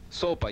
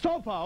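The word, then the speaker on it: sopa: that true excuse me SOA how it's pronounced soapa yes soapa okay now now I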